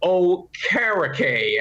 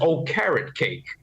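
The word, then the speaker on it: Okereke: got the linebacker uh oh karakay and uh wink helped me with the pronunciation he said he told me just say it as oh carrot cake so Bobby O'Hara cake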